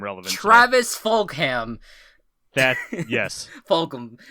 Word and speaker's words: Fulgham: Fulgham. I'm pretty sure it's how you pronounce it.